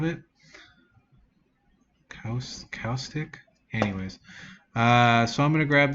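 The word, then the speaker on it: caustic: can't pronounce that but it's spelled CA you like acoustic but with a c in front of it house kostik anyways so I'm gonna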